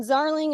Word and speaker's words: Zarling: Uh my name is with an H and then Zarling is Z as in zebra rhymes with darling.